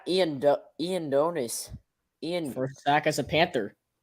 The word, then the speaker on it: Ioannidis: Matt Edonis, I think that's how you say his name. Is officially will be listed as Matt Edonis.